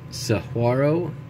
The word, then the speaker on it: Saguaro: Here's another National Park Service program for the I think it's Saguaro National Monument. I think the G is an H.